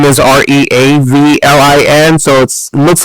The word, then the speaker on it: Reavlin: to find me, but because my name is Reavlin, so it looks like Reavlin, but it's pronounced Reavlin, so I'm Reavlin, which looks like Reavlin, but then you can find me.